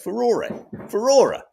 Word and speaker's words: furore: Furore.